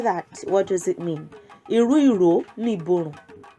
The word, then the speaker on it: Irú Ìró Ni Ìborùn: Iru iro ni iborun. Iru iro ni iborun. Let's say it like that. There might be a scenario and someone would say, Iru iro ni iborun.